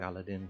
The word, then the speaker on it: Aladin: a really cool one this one is called Aladdin or here just pronounced like I lied in whatever so this case